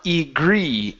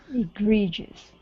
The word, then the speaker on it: egregious: egregious egregious mistake uhuh Egree egregious egregious okay give me a good gr instead of IG IG igre GES egregious there you go that's it